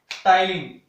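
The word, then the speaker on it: ptyalin: Salivary amylase जो है उसको दूसरा नाम बोलते हैं टाइलिन। पी इसमें साइलेंट रहेगा।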